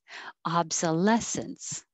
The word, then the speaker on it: obsolescence: It's ob, ah. That's why I put AH, I think, to think of ah. Obsolescence.